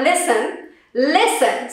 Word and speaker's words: listen: We have listen. So the T in listen is silent, all right?